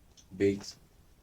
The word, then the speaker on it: Bet: Bait, and Bait is pronounced this way. Bait.